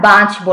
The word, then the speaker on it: বাঁচবো: আচ্ছা, তো যেটা বলছিলাম, প্রিয়তম আমি তোমাকে ছাড়া বাঁচবো না। বাঁচবো না যে চন্দ্রবিন্দুটা আছে সেটাও আমি উচ্চারণ করেছি। একটু চন্দ্রবিন্দুর জন্য নাকে যে হালকা হয়, একটু বাজে নাকে, একটু নাকে নাসিক্য একটা প্রভাব আছে, বাঁচবো না, এটাও আমরা আস্তে আস্তে সব বুঝতে পারবো।